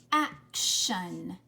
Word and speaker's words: action: before do you think action ends with t-i-o-n or s-i-o-n you're right it's t-i-o-n listen action do you hear the shun at the end yes good job okay